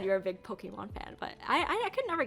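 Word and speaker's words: Pokémon: Wait, so say it again. Say it right. Yo, Pokemon trainer would be a cool job to have. But No, say it right. It's Pokemon. Pokemon. There we go.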